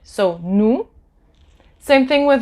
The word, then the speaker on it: nous: So OU, remember last class, in the last video, the sound OU is ou, and the S at the end of the word, you don't pronounce it. So nous.